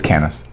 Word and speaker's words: Comus: triggered it's funny but that's actually the way they would pronounce it in this kingdom is can us know the initial know the initial well lower the initial ascent has morphed to a short a like in English I'm glad that you